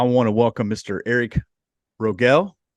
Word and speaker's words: Rogell: Eric Rogell. Is that how you say it? Yeah, you got it. Rogell.